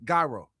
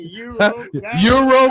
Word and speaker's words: gyro: Please pronounce it for me. Gyro. Gyro? Gyro. Guy. I knew you pronounce it. Some people say Euro.